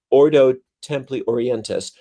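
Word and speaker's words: Ordo Templi Orientis: template or Templar orleantis oh I said it wrong the Oto Ordo template orientis um that was in existence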